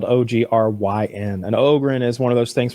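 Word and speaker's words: Ogryn: it means now oh did you watch that ogan story video I sent you I did I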